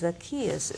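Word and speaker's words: Zacchaeus: know he is not mispronouncing Zaki it's it's zakus is the correct pronunciation of that so you see you learn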